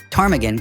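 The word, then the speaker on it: ptarmigan: Fun fact, tarmaggan comes from a Scottish Gaelic word meaning croker because of its low grumbly call. And yes, the P is silent because English.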